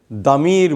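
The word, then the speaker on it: ضمير: বাট এলির নাম হলো আসলে দামির বলে শব্দ হলো দামির দোয়া দোয়াত আকার মিম জের মি র দমির আর আমি যদি প্লুরাল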